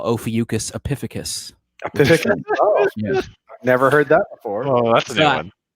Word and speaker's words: Ophiuchus: in the southern hemisphere no no it's just epiphanicus and i'm like how do you spell it and he's like oh pee and i'm like oh you mean ophiuchus and he's like he's like yeah man i'm